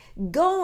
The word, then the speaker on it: go: 자, go를요 사전에서 찾으시면요. 이런 발음교가 나와요. 얘 모음은요. 이런 소리. 에서는 그래서 얘는요. 우리 말에 오 한 번에 가는 소리가 아니고요. 오 소리 내주세요. go on go on 이거 이렇게 얘기를 하거든요.